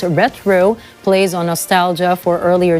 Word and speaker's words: Retro: algorithm-driven content the APR rtro pronounced retro plays on Nostalgia for